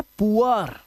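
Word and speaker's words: poor: Double O के बाद आर अगर आएगा तो डबल ओ का जो उच्चारण है वो उआ करना है आपको। क्या करना है? उआ। याद रखना। अब देखो यहां पर यह है पुअर। यह है पुअर। अब इसे या बोर मत पढ़ लेना।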